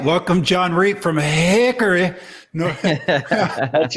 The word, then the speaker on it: Hickory: welcome john reed from hickory that's right you guys you got something like this for whatever reason we don't pronounce the o in hickory it's just haircut and then a little